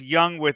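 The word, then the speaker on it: Yung: That's Young that's spelled Y-U-N-G.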